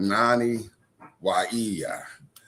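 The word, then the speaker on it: Nanih Waiya: That's where this mound is located and it's called Nani Wa and it's spelled N A N I H W A I Y A.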